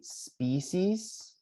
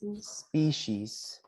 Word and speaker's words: species: These has two different pronunciations. It could be species. Can you guys say it like that? Species. Species. Species. Or species. Can you say that one as well?